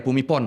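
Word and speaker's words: Bhumibol: Bumipon bacanya. Bumipon ya. Fumipon.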